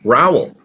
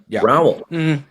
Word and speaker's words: Raoul: There's really more than one way to say my name because my mother, my close relatives have always pronounced my first name like you might in the UK, Mike, which is Raul.